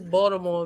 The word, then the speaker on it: Baltimore: She said Baltimore. It's Baltimore. Exactly. She said it right. There's no T.